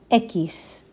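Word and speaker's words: equis: Echis.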